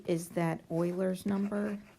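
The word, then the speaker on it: Euler: function e is that Oiler number remember it's German it's pronounced Oilers number and it's irrational like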